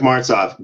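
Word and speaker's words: Martsolf: behind the voice of keith right that's eric marstoff please tell me i said it right oh yeah eric mart's off great guy this is a guy who is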